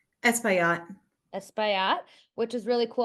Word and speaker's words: Espaillat: She did a legislative internship under Congressman Adriano how do you pronounce his last name? Espaillat.